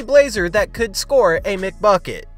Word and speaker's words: McBucket: They don't call him CJ McBuckets for nothing, as he was the only Blazer that could score a McBucket. McBucket rhymes with McNugget, but yesterday Blazer fans starved as their team didn't even get close to 100 points.